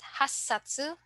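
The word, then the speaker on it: 八冊: then 10 okay so first we have isatu then for eight hasatu and then 10 ju satu so again please take note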